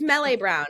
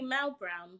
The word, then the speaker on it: Melle: Okay, I'm gonna read your book, and it's Melle Brown. Is that my It's pronouncing? actually Mel Brown, but Oh, it's Mel I Brown.